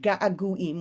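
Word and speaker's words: געגועים: this on the word gaaguim which is longings it's an amazing ano mada poetic word gaaguim it sounds like gaga but it also sounds like a long you know a repeated syllable longing right and so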